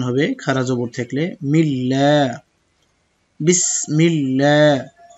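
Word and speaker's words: بسم الله: এক আলিফ টান হবে খারা জবর থাকলে মিল্লা বিসমিল্লাহ হা জের হির র হা জবর রহ তাশদিদের একই হুকুম দুইবার উচ্চারণ হবে হিরহ মিম খেলা জবর মা নুন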